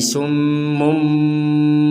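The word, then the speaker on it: صم: mim kecil di atasnya mim menandakan bahwa summun ini dibaca menjadi summum seperti itu summum kalau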